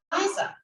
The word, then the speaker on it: Aiza: I'm saying the name wrong. It's Aiza.